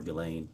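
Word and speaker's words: Ghislaine Maxwell: reported that in 2024 uh Gelain Maxwell or Gileain I think is how it's pronounced arranged and wired $1 million to publicist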